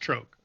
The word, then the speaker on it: Gtrohc: It's spelled Gtrohc, pronounced Troke.